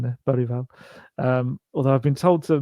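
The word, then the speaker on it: Bergvall: Gray, Bereval, and see the pronunciation there? Bereval.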